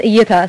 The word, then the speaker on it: Eyita: So my name is Eyita. It's actually pronounced Eyita. Since my mother's here, I'll pronounce it correctly.